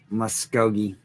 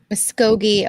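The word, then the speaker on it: Muskogee: How do you pronounce that again? M Muscogi. Muscogi, uh, Oklahoma pretty well.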